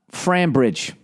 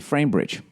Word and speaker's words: Framebridge: Frambridge. Frambridge. All right. Is that how you say it? Frambridge? Cambridge is C-R-A-M. I'm going to say Framebridge.